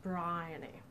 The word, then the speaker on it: Briony: up is Briony actually her name is pronounced Briony like a brined shrimp I was not a